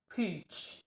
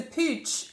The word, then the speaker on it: Puig: If you're not Catalan, then this looks like a certain word, but actually when you say it, it sounds completely different to English speakers. So I think it's pronounced Puig, I think.